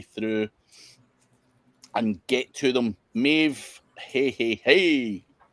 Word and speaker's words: Maeve: Maeve, hey. Not seen Maeve in a few weeks because we've not been on. But, good to see you, Maeve. That rhymes with Dave.